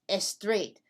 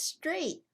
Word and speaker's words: straight: not julie it's not the word is straight why julie because we do not use the letter e as a help to pronounce the letter s when the letter s is the first letter of